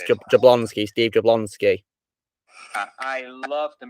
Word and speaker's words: Jablonsky: I forgot how you pronounce the surname. Steve Jablonsky. It's Jablonsky, Steve Jablonsky.